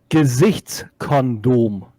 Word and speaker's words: Gesichtskondom: Gesichtskondom. Gesicht Kondom. No, the G is hard.